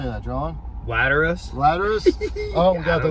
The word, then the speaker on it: Lateralus: And I'm going to say this name wrong. I apologize. Lateralus or Lateralus? How do you say that, John? Lateralus.